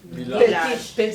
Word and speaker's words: village: Village. Village. Como ville et âge.